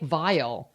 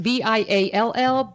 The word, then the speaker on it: Viall: I guess it's Nick Viall. Okay. I don't know. It's pronounced Viall, but they all say it's Vial. I guess anyway.